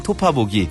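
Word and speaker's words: 톺아보기: 글로 쓸 때는 아보기라고 쓰고요. 피읍 피읍입니다. 읽을 때는 토파보기.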